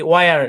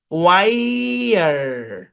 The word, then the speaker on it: wire: তো এটাকে নর্মালি হচ্ছে আমরা সচরাচর এইভাবে দেখি, ওয়ার এভাবে লিখি, মানে বাংলাতে আমরা এভাবে লিখি। কিন্তু এটা হচ্ছে ওয়াই, ওয়াই। একটু আগে ভাই, আগে আয়ের সাউন্ডটা কনফার্ম করেন। ওয়াই, ওয়াইয়ার, ওয়াইয়ার।